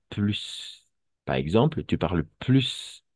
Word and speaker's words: plus: Em, Va a ser plus, quiero más, j'en veux plus, quiero más de algo, ¿ok? Y vamos a pronunciar esa S al final.